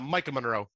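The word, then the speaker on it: Maika Monroe: young lady that is in this is uh Michaela Micaiah Moreau from it follows did I say it right Mike uh Micah Monroe Micah Monroe from it follows mwah always loved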